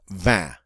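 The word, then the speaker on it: vingt: Now remember, the French number for 20 was 20, 20, and it was spelled V-I-N-G-T, but pronounced 20.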